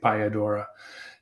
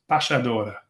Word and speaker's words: Payadora: our our English- speakaking audiences, we might say piodora just uh just so that when they Google us, they can uh they'll they'll look up the right uh the right word.